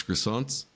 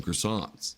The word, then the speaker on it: croissant: That is pronounced croissant, not croissant.